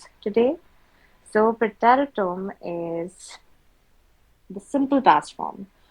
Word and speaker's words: Präteritum: And this is called Präteritum. How do we pronounce it? Say pray, tarry, Präteritum, Präteritum, tum.